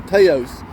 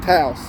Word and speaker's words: Taos: I always say Teos, but he said Taos. And he probably knows a lot more about it than I do.